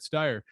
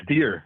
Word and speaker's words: Stier: place and they're like oh yeah steyer uh no it's everybody it's it's it's everybody loves to hear their name and it pronounced properly so and steer steer yeah steer okay all